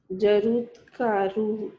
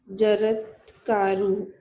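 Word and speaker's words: जरत्कारुः: Jarutkaru. It is Jarut. Jaratkaru.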